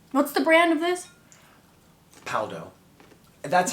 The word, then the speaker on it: Paldo: Paldo. That's how the Americans, it's Paldo. But in Korea, I've heard them say it, it's like Paco. They only say Paldo, it's like Paco.